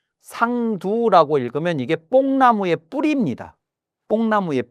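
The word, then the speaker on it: 桑土: 그렇게 아직 그런 상황이 안 됐을 때 그때 철피 상도하야 저 상두를 요걸 두라고 읽고 흙토자가 아니고 두라고 읽는데 상두라고 읽으면 이게 뽕나무의 뿌리입니다.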